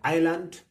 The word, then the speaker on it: island: it's not pronounced, and island, S is silent.